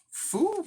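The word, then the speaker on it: Fooh: what's his name foosh foo what what the is it foo right f-o-o-h the dude's name is foo bruh i say fool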